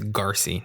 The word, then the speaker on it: Garcy: I just realized I've been saying this person's last name wrong. It it's Garcy, not Gracie.